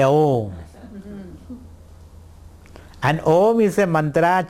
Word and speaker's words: Om: And Om is made up of 3 syllables. We all know that. A, O and M. A, O, M. A refers to your waking world. A refers to the waking world. U refers to your dream world.